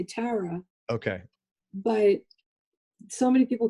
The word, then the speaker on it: Tara: When I refer to myself, you'll mostly hear me say Tara.